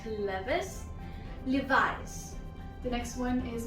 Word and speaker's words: Levi's: The first word is Levi's. Levi's. Not Levis.